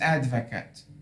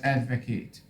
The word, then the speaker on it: advocate: everyone when used as a noun it is advocate because in your presentation it was used as a noun but you pronounce it as advocate as a noun advocate so pronunciation uh like